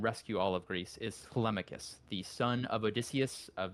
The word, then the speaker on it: Telemachus: It is Telemachus. It's not Telemachus.